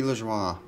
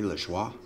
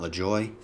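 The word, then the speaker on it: LaJoie: number to 25 Corey lejoie I'm assuming that's a French pronunciation Corey Les schwa not La Joy Bubba Wallace green there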